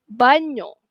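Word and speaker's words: bagno: Sonyo ataupun banyo.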